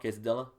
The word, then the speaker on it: Quesadilla: Is that how you would pronounce the name of the song as well, Quesadilla?